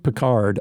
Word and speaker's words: Pickard: with Pickard in and I know I pronounce his name wrong. I can't help myself. It's Jeanluke Peard. Um Jeanluke Calvin Pequard or Calvin Jeanluke Peard.